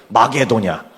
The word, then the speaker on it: 마게도냐: 마케도니아 이제 써 있죠 마케도니아를 구수하게 발음해 보세요 좀 한국식으로 더 구수하게 칙칙하게 마게도냐 아카이아 구수하게 만들어 보세요 아